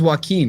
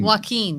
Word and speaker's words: Joaquin: say his name jack i thought it was joaquin joaquin that's right yeah was more about mental illness